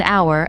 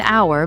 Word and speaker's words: hour: Use and before a vowel sound, an apple, an hour, an honest person. So even though hour starts with an H, we say an hour because the H is silent.